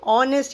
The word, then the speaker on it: honest: So, honest H is not pronounced. It is silent.